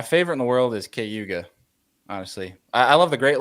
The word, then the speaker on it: Cayuga: on videos down here, they say Cayuga, which they mispronounce lake names all the time. So I'm trusting the New Yorker. What he says is it. We call it Cayuga.